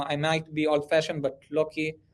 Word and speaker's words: Loki: might be old-fashioned but lucky or lucky how do you pronounce it like i think it's loki loki sorry so so like